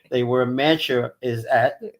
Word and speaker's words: Mantua: Yeah, a lot of people that are not from New Jersey can't pronounce Mantua. They always say Mantua.